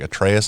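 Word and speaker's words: Atreus: he's got his son like a trace I think it's how you say his name yeah Tracy yeah yeah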